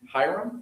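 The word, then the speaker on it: Hiram: Can anybody pronounce Hyram Hyram?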